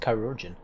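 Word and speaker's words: chirurgeon: of a chiruran without oh that's how you pronounce it korin oops oh we were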